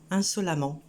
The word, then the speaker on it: insolemment: Seulement, il faut se rendre compte de la prononciation. Là, au lieu de prononcer E, on prononce A. On a insolent, insolemment.